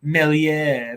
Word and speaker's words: Meslier: Both of them, Adams, Rafinha, Bamford, all doubled, and Meslier. Sad, man. That's unlucky, mate. It's pronounced Melier.